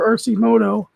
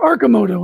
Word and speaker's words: Arcimoto: we looked at earlier rcmoto or arcimoto i'm sorry because i watched a video and that's how the president of the company was um it was pronouncing it so it's arcimoto and they're currently trading